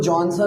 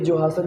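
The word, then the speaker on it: Johannsen: तो सीधा सा जवाब है जोहासन ने, इसको जॉनसन हम लोग कह देते हैं बट ये जोहासन प्रोनाउंस करो ज़्यादा बेहतर है, ठीक है।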